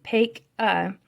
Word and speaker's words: Paca: Paca, pronounced Paca, was born into a wealthy family on Halloween of 1740, not far from Baltimore.